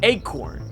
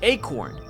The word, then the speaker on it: ACORN: o n r or acorn as it appears to be pronounced this acorn whatever it